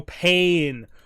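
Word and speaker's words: Payne: the vampires ah General pain but it's not spelled as pain it's spelled as like max pain p a y n e ah Kel pain sorry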